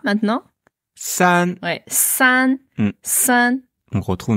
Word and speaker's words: 三: C'est pas ça, c'est san, plus un, san, san. Ouais, san. Ouais. Carrément. Ok. C'est vraiment vraiment comme saint pour moi, le saint.